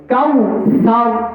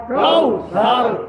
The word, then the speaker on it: কাউসার: জলি বলে নাউজুবিল্লাহ এজন্য আমাদের খেয়াল করতে হবে কাউসার কাউসার কাউসার কাউসার ইন্নাকাল কাউসার গুন্নাটা আরেকটু করতে